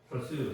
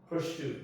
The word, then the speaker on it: pursue: You can start pursue 해갖고 이제 이게 이제 영국식 영어하고 미국식 영어가 조금 다른데 pursue 그러니까 저희도 이제 어떻게 보면 이제 영국식 영어가 정통 영어라고 이제 배워왔기 때문에 발음이 그게 조금 더 익숙하긴 해요. 영국식 영어가 pursue 하면 이제 추구하다 그런 얘기인데 이걸 미국식 영어로 읽으면은 pursue 이렇게 수가 되는 거죠. 슈가 아니고 pursue.